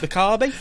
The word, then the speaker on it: Mikami: say the name because I always get the name wrong. Is it Mikami? Yeah, Shinji Mikami.